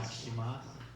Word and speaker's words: Jak się masz: Jak się masz? Yakshimas.